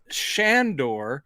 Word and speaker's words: Sandor: shown up is a monk yes uh father shandor is how it's pronounced all the way through the film and